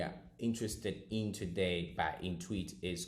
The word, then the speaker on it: Intuit: Now, this website is called Intweet.